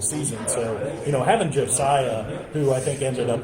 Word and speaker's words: Josiah: um how do you say his first name Josiah Josiah his his brother has a non okay non